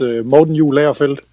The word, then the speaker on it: Morten Juhl Agerfeldt: My name is Morten Juhl Agerfeldt, and yeah, that's what Sharon is trying to pronounce in American.